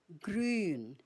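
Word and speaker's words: grün: So grun.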